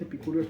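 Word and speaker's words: epicúreos: cómo van los epicureos es epicureos pero no s es con acento en la en la o epur epicuro epure epicureos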